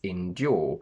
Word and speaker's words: endure: to win joe which the dictionary will give you as endure but in normal common modern english we pronounce as indul is a very sophisticated